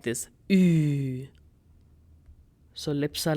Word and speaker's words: Ü: Now for that, you can take the English word huge, huge, and drop H and GE. You'll be left with the sound of Ü sound.